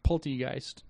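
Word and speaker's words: Polteageist: It's Poltegeist.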